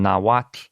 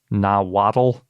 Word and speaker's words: Nahuatl: that we usually pronounce Nahuatl. So we've been doing it wrong. Yes. So it's really just two syllables, and it ends in that sort of soft T sounding thing.